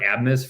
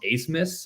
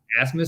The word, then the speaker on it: Abmas: I've heard Abmas for Max Abmas, but I read articles where he says it's pronounced Asmus or Asmus.